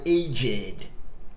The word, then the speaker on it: aged: My aged, ok? Aí o ED vai ser pronunciado com som de ED mesmo.